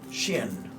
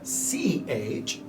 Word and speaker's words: Chien: Shin. Shanchin. Well, which one is it? So Shan, S-H-A-N, and then the surname, I don't know how to pronounce it, I think it's Shin, is C-H-I-E-N.